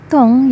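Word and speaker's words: 湯: Kita lanjutkan dengan kata dong yang artinya sup atau kuah. Nah, dong yang artinya sup atau kuah diucapkan dengan nada agak tinggi dan panjang.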